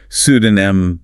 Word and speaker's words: pseudonym: So the mistake is trying to pronounce that P. The correct pronunciation is cec detonum. Cesenum. So it sounds like pseudonym silent P.